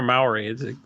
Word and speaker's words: Maori: mother was a European how is it pronounced Maury or Maori we say Maury kind of sounds like